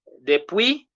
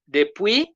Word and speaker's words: Depuis: Depuis, S is silent. S is not supposed to be there.